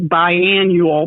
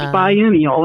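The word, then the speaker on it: biennial: pollinated and produces seeds banial is that what we call that correct correct okay good sometime I've mispronounced that like biannual but it's banal isn't it that is correct so after the yellow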